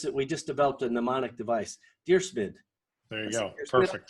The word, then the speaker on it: Dyrsmid: Dyrsmid, just like you're writing a letter to a guy named Smid.